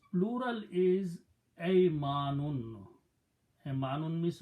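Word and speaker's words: أيمان: Important thing is that make sure that you put a fataha on alif with a hamza. Ay manun. Aymanun means right hands, body parts. Right? This right hand. If you did not pronounce correctly that, and you pronounce kasra, that will be believe or faith, iman, but that's not the word.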